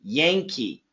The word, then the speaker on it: Yankee: a n ke e actually the pronunciation is like this yank with a G Yankee Yan perfect Yankee organization yank